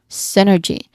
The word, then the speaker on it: synergy: Now the primary stress here is on the first syllable. Sin sin. Okay. That's a sin synergy. Well, you are um No, no. I'm just going to say the letter Y sound here. The N sounds like the short E sound. So, um synergy. G. There's a short E sound there. Synergy.